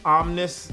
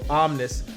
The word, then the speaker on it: OMN1S: see where it says omnis right there there says that's omnis is postive rhyme with Ole Miss so omnis not omni's or anything like that um this at